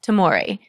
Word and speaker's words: Tomory: And today, I am joined by Tomory. Did I say it right? Yes, Tomory? you did. Yes, it's did. like amore. Like amore.